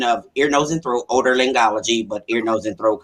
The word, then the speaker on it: otolaryngology: But I actually work in the Department of Ear, Nose, and Throat, otolaryngology, but ear, nose, and throat, because everybody has a hard time pronouncing it, which is ear, nose, and throat.